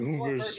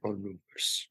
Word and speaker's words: Anubis: Actually, I have like Anubis. You gotta say it like they do on Stargate. Anubis.